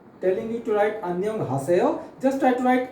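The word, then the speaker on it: 안녕: So how many syllables are there in Anyong? Yes, yes, right. It is two. Okay. So in first syllable it is an, then second syllable is nyong. Okay. So first we will write an. Okay. It is an. Then second syllable we will write nyong. Okay, so first syllable is an, second syllable is nyong, so it is anyong.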